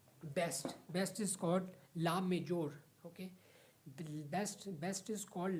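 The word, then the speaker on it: la mejor: डी डी नॉट T best best is called ला majeure okay best best is called ला majeure male female same okay लाम majeure the spelling of ला majeure is एल ए then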